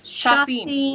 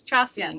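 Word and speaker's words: Chacín: Sashin, I still can't pronounce his last name. Braves legend. Julio Chacin. It's Chacin.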